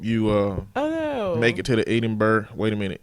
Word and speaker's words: Edinburgh: I hope you make it to the Edinburgh. Wait a minute. You said it was pronounced Edinburgh. Look like it's spelled Edinburgh, but he said it's Edinburgh Fringe Festival.